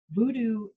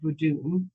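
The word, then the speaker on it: Vodou: So um voodoo is um an incorrect pronunciation of voodoo which is a religion um based in I think originating in Haiti, Dominica, that area.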